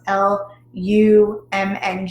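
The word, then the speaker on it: Lam: is so it's l-a-m but it again it's pronounced l-u-m-n-g so lum so you'll use that with um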